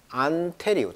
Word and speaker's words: Ontarian: 캐나다 주가 이제 온타리오 주의 수도가 이제 바로 토론토가 되는데, 거기에 이제 안테리오, 이렇게 영어식 발음은 이제 안테리오, 테리의 강세가 있어요.